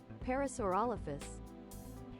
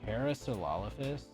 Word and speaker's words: Parasaurolophus: Pronunciation, here we go. Parasaurolophus. Parasaurolophus.